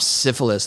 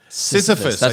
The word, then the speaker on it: Sisyphus: know we just dropped syphilis in the first minute syphilis could be a person's name oh yeah Jack syphilis Sisyphus yeah Sisyphus you said it wrong that's what it was